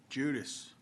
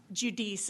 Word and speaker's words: Judice: Chair calls Judas. We have you registered as Judas, representing Tex Protects, testifying in favor of the bill. Is that correct? That's correct, Chairman. Is that the correct pronunciation too? Judice is the last Judice.